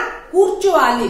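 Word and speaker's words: కూర్చోవాలి: नेन एकड़ा, नेन एकड़ा कुर्चो वाली, तो कुर्चो भी नहीं बोलना है, लिखते कुर्चो है लेकिन नेन एकड़ा कुर्चो वाली, वहां पे रा जो है थोड़ा साइलेंट हो जाता है।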